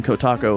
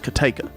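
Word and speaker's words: Cotaco: So, they have one called the Cathead IPA, which is spelled Co-Taco, and I drive by that town every day on my way to work, and I tell Leah something happened in Kotaco, and she says, no, it's Kateka.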